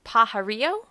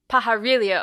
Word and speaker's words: Pajarillo: and your last name is it pajario uh pajarriglio pajarillo okay i was doing it in the spanish way nothing really yeah okay